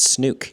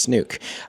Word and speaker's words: Snook: That is the correct pronunciation. It's Snook everybody. It's Snook.